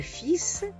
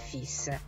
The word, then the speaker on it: fils: Le fils, les fils. Fa un po' eccezione, non pronuncio neanche la L, per non confonderla con la parola le fil, che significa il filo.